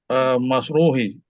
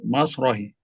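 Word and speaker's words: مسرحِ: Nah, ini seperti madrasah. Hmm. Mas rohah gitu jadinya. Mas rohah seperti makbaroh, makbar. Dicoba lagi. Ar-rajulu fi alal masrahi.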